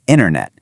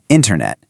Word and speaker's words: internet: It's not a flat internet. You really have to hit that first syllable hard, internet.